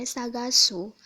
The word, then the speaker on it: 探す: dari coretan pertama sampai coretan ke-11 untuk cara bacanya Agung yang minyak ada sagasu atau kalau dijadikan bentuk mas jadi Saga Simas